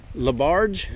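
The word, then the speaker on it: Laberge: LeBarge. LeBarge.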